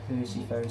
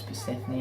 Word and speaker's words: Persephone: So here's a Persephone's cabin. I'm kidding, I know it's Persephone, I just say it to trigger all of you, because it's pretty funny, let's be honest, purposefully mispronunciating a name like that.